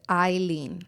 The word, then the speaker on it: Eillen: You pronounce it Eillen. It is Eillen. It is Eillen.